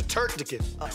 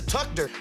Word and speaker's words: turducken: Don't What the hell is a turducken? What is a tuckder? What the hell is a tuckder? Turducken is the pronunciation.